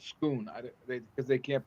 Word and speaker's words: Scone: It just It's like called the Stone of Scone, and it's spelled scone, but called Scoon.